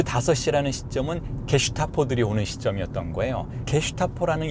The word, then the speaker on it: 게슈타포: 그런데 프랑스어에서는 G를 제라고 발음하니까 제스타포이지만 독일어에서는 G를 게로 발음하니까 게스타포라는 단어가 된 거죠. 게스타포. 나치 친이 되잖아요. 게슈타포.